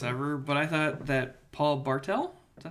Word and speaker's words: Paul Bartel: I also thought this is the most random reference ever, but I thought that Paul Bartel, is that how you pronounce Yes.